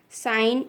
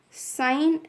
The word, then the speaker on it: sine: Sine is, we should not pronounce this as sin. It's not sin, it's sine.